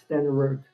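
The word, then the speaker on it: Stenerud: I mean, the other is uh Morton Anderson than uh I can't a Jan Sten Stenug pronounce that better than I can. Sten Jan Stenroot.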